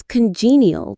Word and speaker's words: congenial: The goal is to create an atmosphere that is congenial to relaxation and inner exploration. Let's look at that word again. It's a good one. Congenial. Congalial. The stress is on the second syllable.